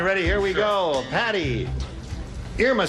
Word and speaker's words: Irma: Most people say Irma, but really the correct pronunciation is Irma, as in Irma la Deuce.